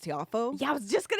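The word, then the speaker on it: Tiafoe: We saw, I think his last name is pronounced Tiafo.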